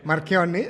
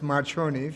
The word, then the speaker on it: Marchionni: now what is it don't worry Marc yummy even though you would pronounce Marconi okay so you're part